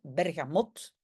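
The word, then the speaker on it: Bergamotte: Oui, je le prononce à la flamande, Bergamote.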